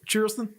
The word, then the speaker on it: Charleston: to uh bike week it's pronounced Charleston Charlston yeah I think it's